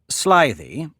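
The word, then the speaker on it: slithy: on that point also pronounce Sly thee as if it were the two words Sly thee make the G hard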